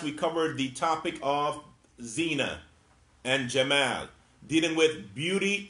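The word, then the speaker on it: زينة: Zina, and that's with a long E sound, not zina, but zina. This is beautification, which is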